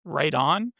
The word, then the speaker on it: Wrighten: Gus Sees, Tyson Wrighten, which is pronounced right on Big Touchdown, or Braxton Puffley.